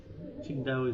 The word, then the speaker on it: Qingdao: That's how they say it. Oh. Qingdao is the official pronunciation there.